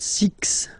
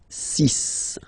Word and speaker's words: six: so you get the sis pronunciation Sis Sis okay so it's not six it's sis all right then here